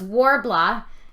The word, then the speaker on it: Worbla: I'm a perfectionist like that okay what's uh warbl so it's warbl it's uh a thermoplastic material it is spelled I'll go back to my materials list